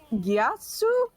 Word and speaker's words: Yasu: Well, on the other side, we got Bad Benny on Diablo, we got Hans on Vala, we got Yasu? Is that how you say it? That is Yasu.